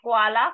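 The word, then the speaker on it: Qualle: parall parall Q This is not Q this is cool sound so quala quala is a jellyfish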